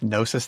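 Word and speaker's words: Gnosis: Um, or it's underneath Nosis Therapy with a silent G, so it's G N O SIS therapy.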